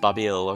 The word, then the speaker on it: Babil: of babel yeah it's obviously a reference to the tower of babel but it's pronounced babil according to or something